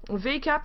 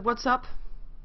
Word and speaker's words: VACAP: yeah we're gonna have a game between a V cap which is apparently pronounced as what's up what's up but it says V cap so we are gonna have a cap vs.